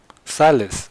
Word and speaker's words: Sylas: one trick or not make sure it's Silas Silas it's correct so there's gonna be a long-ass